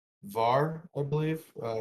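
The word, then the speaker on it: Hvar: to an island called var i believe uh it's spelt h-v-a-r but i heard the people the locals calling it var where they use monopoly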